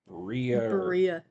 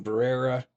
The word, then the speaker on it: Berea: So Brookelyn Shea Farthing came into this world on August 26th, 1994 in Berea is how I heard it pronounced.